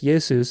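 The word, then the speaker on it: Ἰησοῦς: have to realize that people called Jesus yesus and the people who wrote the New Testament wrote down yesus so if you're going to be legalistic about pronunciation then you might as well learn Co Greek perfectly and pronounce yesus because that's what it says but either way after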